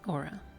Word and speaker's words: Aura: So, Miss Aura, did I pronounce that correctly first off? I want to make sure I get this correct. Yes, Aura.